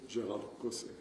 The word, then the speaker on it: Gérald Caussé: I'm used to all kinds of pronunciations that you find according to the accents of the world, but my French name is Gérald Caussé.